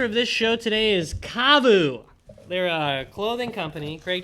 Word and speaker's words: KAVU: It's pronounced Kavu, like Yahoo.